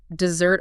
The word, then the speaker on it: Desert: And today, people pronounce it like dessert island, like the sweet food you eat after dinner.